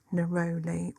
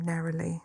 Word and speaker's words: neroli: So to the lavender, I am going to add 5 drops of neroli or neroli, depending on how you want to pronounce.